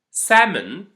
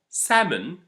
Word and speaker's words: salmon: rule we can say don't pronounce the L when it's preceded meaning it comes after a or o and it's and after